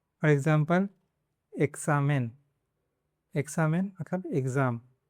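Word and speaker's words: examen: Between vowels, मतलब अभी ये 21 है, इसके पहला और बाद में वावल्स है, ए और आ है, तब उसको क्स पढ़ना है। फॉर एग्जांपल एक्सामेन, एक्सामेन मतलब एग्ज़ाम, एक्सितो,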